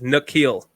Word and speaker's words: Nikhil: No, it's you have it wrong. It's the opposite. It's Nikhil.